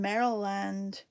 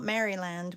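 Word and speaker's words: Maryland: So, oh, we're we're in Meriland, not Mryland.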